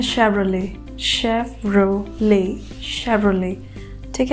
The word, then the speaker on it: Chevrolet: ठीक है, हमारा अगला ब्रांड है ये, और इसे हम प्रोनाउंस करते हैं शेवरले।